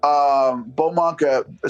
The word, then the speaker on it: Bauxmonk: Beaumonk. So it's a BAUXMONK. That's how you say it, all one word.